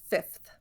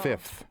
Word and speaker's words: fifth: know of one and some people do pronounce it Fifth oh fifth I think I pronounce it so but you don't have to and actually the first pronunciation in our dictionary is fifth slips right over that second F Fifth Fifth Fifth I